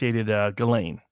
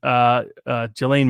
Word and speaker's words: Ghislaine: I think her name is pronounced Ghislaine. No. Really? I think so. Yeah, it's a Ghislaine or Ghislaine. Ghislaine. Ghislaine. That's it. Ghislaine. I pronounce it the French way.